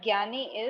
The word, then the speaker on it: jnani: And Gyani is JNANI.